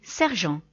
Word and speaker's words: sergent: It's odd because the French people don't say sergeant, they say sergent.